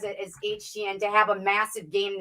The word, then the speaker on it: Etienne: His way of pronouncing his last name is not Etienne. He says HTN because he says in the New Orleans Cajun area, you pronounce it with an H.